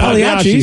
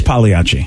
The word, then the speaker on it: Pagliacci: It is Pagliacci. It's technically Pagliacci, but everybody says Pagliacci. It's like my last name. The G is not supposed to be hard, but it is.